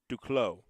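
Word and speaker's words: Duclos: for Megan do close duclow duclow is from Quebec so I should have expected the French pronunciation of declaw there drops down the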